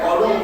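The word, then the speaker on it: قالوا: Semua menjawab qalu. Menurut Abu Salam ada wawu jamak, makanya bacanya nggak boleh pendek. Qalu nggak boleh, bacanya harus panjang.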